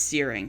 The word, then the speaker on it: Searing: It's Searing. So, my apologies. Well, I've only been mispronouncing that for the last five years.